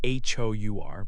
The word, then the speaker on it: hour: You write H-O-U-R, but you say hour. The H does not make a sound.